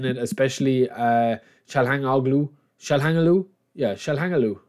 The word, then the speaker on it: Çalhanoğlu: Yeah, Çalhanoğlu. That's how you pronounce his name, somebody told me.